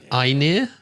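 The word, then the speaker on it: Einar: who was in the op how do you pronounce that I near e i n e r okay dreaming of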